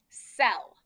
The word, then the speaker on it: cell: practice some more so let's practice our soft c's first so we have a c and an e so we know it's going to be s e o remember when we have two letters together it just makes that one sound it doesn't say s just says all together cell awesome okay we have